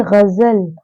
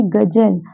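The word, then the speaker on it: ग़ज़ल: तो इसे पढ़ेंगे गजल, ना कि गजल।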